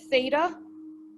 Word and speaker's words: theta: go a little thicker here um and we pronounce it theta my central angle is equal to one